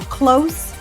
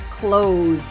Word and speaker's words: close: close or close so it depends if it's an adjective which it sounds like close or a verb which sounds like clothes let's look at the adjective it's close to noon do you want to go for lunch soon close it's an s sound and the verb has a z sound close the window please